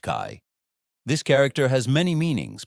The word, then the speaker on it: 开: Pronounced Kai.